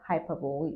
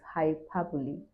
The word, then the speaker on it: hyperbole: For example, we have words like hyperbole. Hyperbole is not hyperbole. We make mistakes most time and call it hyperbole. The right way, the right pronunciation is hyperbole.